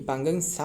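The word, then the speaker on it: Pangong Tso: नहीं, SHOW नहीं, ये पांगंग सा होने वाले हैं। पांगंग सा लेक कहाँ रहे बता ना, पांगंग जो TSO पांगंग सो जो रहे ये साइलेंट रहे।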